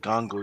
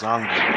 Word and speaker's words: Zango: First of all, it's not Gango, it's Zango.